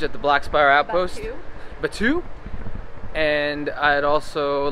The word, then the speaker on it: Batuu: Batuu.